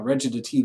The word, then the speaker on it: recitative: Now, recitative is spelled R-C-I-T, et cetera, et cetera, but it's pronounced recitative, is how that's pronounced.